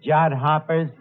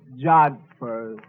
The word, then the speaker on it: jodhpurs: Absolutely beautiful, Eddie, in her riding pants and her jod hoppers. Yeah, it was love at first sight. That word is pronounced jodhpurs.